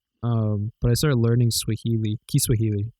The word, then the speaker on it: Kiswahili: Kiswahili is actually how they say it.